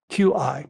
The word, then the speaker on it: Qi: B.C.E., Most notably in the northern state ofQi, Qi, pronouncedqi, cheese rulers were famous for their marshall prowess and had regularly been called upon to defend the Joe's northern frontiers.